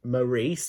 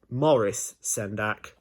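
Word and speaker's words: Maurice Sendak: In The Night Kitchen I've always known it to be pronounced as Morris Sendak and those episodes are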